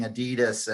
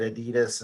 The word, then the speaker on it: Adidas: I like that you're pronouncing it Adidas and not the whole Adidas thing. Adidas. Well, that's the German way.